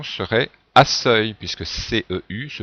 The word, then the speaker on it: accueil: Accueil, c'est la réponse B. Si on écrivait, comme dans la phrase, la proposition A, la prononciation serait accueil, puisque CEU se prononce se.